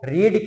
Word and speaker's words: read: और second form का pronunciation क्या होता है, रेड।